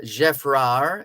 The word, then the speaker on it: Geffrard: General Geffrard, it's spelled Geffrard, but because it's French, you don't pronounce the D at the end. General Geffrard came to Jamaica in